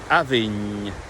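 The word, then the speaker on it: abhainn: the River Avon and the Gaelic word Avin. Avin. I'm overextending it a wee bit at the end, but it should be very short.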